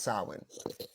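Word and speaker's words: Samhain: m h a i n sa but it's pronounced sin so um it started to have some of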